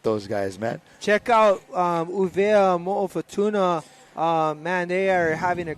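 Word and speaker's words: ʻUvea mo Futuna: Uvea Mo'ofatuna is a proper way to say it. I'm no longer saying Wallace and Fortuna. I'm saying Uvea Mo'ofatuna.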